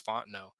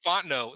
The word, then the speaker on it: Fontenot: thing with uh my friend's last name is fonteno but it's about f-o-n-t-n-o-t font the knot nobody apparently down south Fontenot like yeah down south fontanos are everywhere and